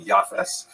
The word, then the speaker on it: Japheth: He has a son named Japheth. In the Ashkenazi pronunciation, that would be Yafes.